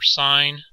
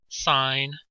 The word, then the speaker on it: sin: learned in Geometry were sine cosine and tangent and those were abbreviated s i n pronounce sine not sin cos for cosine and